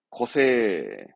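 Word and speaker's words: 個性: 거세, 거세. 그렇죠. 개성적이다, 거세떼기, 거세떼기. 개체입니다. 예, 고체가 아니라 개체, 한 개체를 말하는 발음은 고타이, 고타이.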